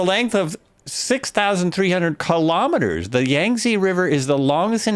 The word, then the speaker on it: Yangtze: the yangi river yangi the yangi river I listened to several pronunciations that's as close as I can get um it is the